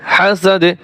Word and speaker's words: حسد: ومن شر حاسد إذا حسد, ইযা হাসাদ, দালের উপরে এরকম জজম পড়বে আর উচ্চারণটা হবে হাসাদ।